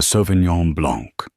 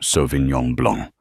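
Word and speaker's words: Sauvignon Blanc: The Sovenon Blanc. She pronounced it with a hard flat G and an anglicized blank. An excellent choice, ma'am. Mirabel said her professionalism unwavering. The 2022 from Ser is particularly crisp this season. She pronounced it correctly softly without a hint of correction in her tone. So Vinyong Blong, it was a tiny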